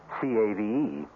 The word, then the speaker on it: cave: with a latin word spelled the same way c-a-v-e but pronounced cave it means beware our cast included